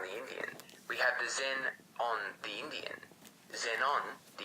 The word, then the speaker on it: xenon: When you pronounce xenon, the X sounds like Z, so the words sound like Zen-on.